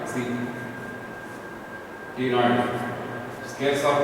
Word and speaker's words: ctenoid: Scales are called ctenoid. See, ctenoid. Scales are called placoid, ctenoid. C is silent. C is silent. That's what we are saying it as a ctenoid.